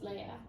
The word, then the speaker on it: Lea: it's pronounced Leia. Leia.